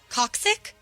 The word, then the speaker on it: coccyx: Coccyx?